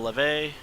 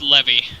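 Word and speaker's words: Lévy: And then Raphael Leve moving up 3 spots, 22nd to 19th. So It's Levy.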